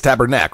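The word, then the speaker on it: Tabarnak: that was pretty good except it's tabernac right tabernac the team there you go and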